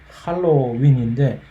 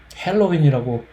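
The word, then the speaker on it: Halloween: 헬로윈 세상에 이것은 언제나 이것은 할로윈인데 도대체 누가 이것을 헬로윈이라고 어느 누군가가 신문지상에 한두 개가 이렇게 헬로윈이라고 그래서 앵커가 헬로윈이라고 하기 시작하면 그 모든 다른 전부 똑같이 헬로윈이라고 뭐까짓 거 우리나라 발음 아닌데 할로윈이면 어떻고 헬로윈이면 어떠냐 사실 그런 건 맞습니다. 그렇게 하는데 그냥 듣기 거북해요.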